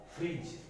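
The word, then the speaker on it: fridge: तो इसमें जो D है वो प्रोनाउंस नहीं होता। जैसे एज, प्लेज, फ्रिज। तो जहां जो D है वो क्या है? साइलेंट है। D क्या है? यहाँ साइलेंट है।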